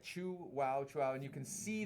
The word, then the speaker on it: Chuao: it's a thin mold it says chew wow Chow on that's how you pronounce Chua right chu wow Chu and you can